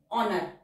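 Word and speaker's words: honour: ऑनर ऑनर एन के साथ आर हुक form, H silent है, एन से पहले नॉट वाला वॉवल।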